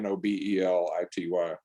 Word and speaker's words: Nobelity: It's spelled like Nobel laureate, Nobelity.